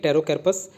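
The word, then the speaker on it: Pterocarpus: यहाँ पे CP silent होना चाहिए, टेरोकैर्पस मार्सुपियर। ठीक है, ये बीजा को बोलते हैं।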